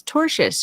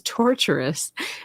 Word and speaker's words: tortious: Janice Wingfield, thanks for the 10, says the lead hater can't pronounce tortious. She says torturous and doesn't know what that word means.